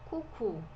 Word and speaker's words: coucou: Aqui a gente tem o OU, então é o som de U.